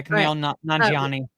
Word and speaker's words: Kumail Nanjiani: Kumail Nanjiani? Yeah, Kumail Nanjiani.